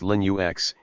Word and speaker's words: Linux: Linux, pronounced Linux, is a family of open-source operating systems, which means they can be modified and distributed by anyone around the world.